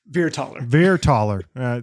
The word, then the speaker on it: Vierthaler: Vierthaler.